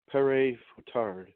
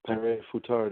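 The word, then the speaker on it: Père Fouettard: I know I believe it's pronounced Pere Foutard, which is said it translates to Father Whipper.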